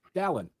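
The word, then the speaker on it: Dallin: Don, like Valon, but with a D. Not Dallas, not Darwin, not Dale.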